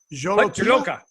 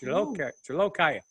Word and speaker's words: Jolokia: So it's the Jolokia. What? Hut Jolokia. No. Why do you do that? Hut Joloki. That's not even close. Jolokia.